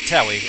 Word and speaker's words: Tewi: Though that silent W in her name does make Shag pronounce it Tewi, and that's what I always want to pronounce it as now.